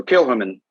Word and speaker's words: Kilchoman: The H is highlighted and stylized. And so Kilchoman.